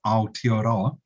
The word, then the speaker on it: Aotearoa: much for that introduction and accommodations on excellent pronunciation of the original and Indigenous name of our country which is aotearoa it's also an official name and uh our